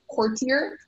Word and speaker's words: courtier: The word can be pronounced courtier, courtier, or courtier.